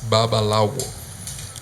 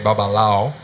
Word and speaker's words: babalawo: to say it all the right word is babalawo that's a way to pronounce it Well normally in Cuba when you call some bubble hour in the in the streets you can say babalao but that's the human way yeah okay so